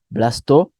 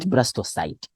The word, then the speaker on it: blastocyst: Yes, we call it blastula or blastocyst. Sometimes people don't know, don't give two answers, just pick one. Yeah, blastocyst or blastocyst. So that's how we pronounce, not blastocyte. Yes.